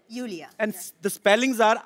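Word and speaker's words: Iulia: यूलिया यूलिया आपका नाम basically यूलिया यू यस pronounce Yulia. Yulia. And yeah. The spellings are I-U-L-I-A. So I... Thank God matlab? You know. I mean, why Thank I? Thank God. Why? Everyone is calling me Lulia, Lolia.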